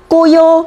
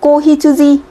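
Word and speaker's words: 子羊: Tại sao cái này không đọc là Koyo mà lại đọc là Kohitsuji? Đúng không?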